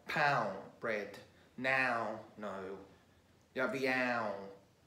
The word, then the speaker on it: pão: So we got the aum, which is spelled A and a til and O. So this is quite common in Portuguese. So like pão, bread, now, no.